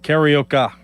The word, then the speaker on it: karaoke: Is it Is it pron is it really pronounced karaoke or is it something that karaoke or I'm always mispronouncing it? Karaoka like tapioca.